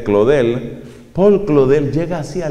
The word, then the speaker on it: Claudel: Un ateo famoso de comienzos del siglo XX, un hombre llamado Paul Claudel, pronunciado obviamente Claudel, Paul Claudel llega así